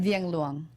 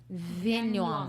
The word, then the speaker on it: Viengluang: Did I pronounce that correctly? It was close enough. Yes. How you say it? Viengluang. Viengluang.